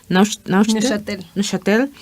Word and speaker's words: Neuchâtel: ¿Cómo se pronuncia? Neuchâtel.